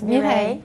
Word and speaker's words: Mireille: Yes, Mireille? Absolutely correct. I can't do the beautiful R, but I'm close.